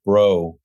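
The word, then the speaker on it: Breault: about Mark Brill brault sure Mark it's actually pronounced bro Mark bro I joined the group sort of later on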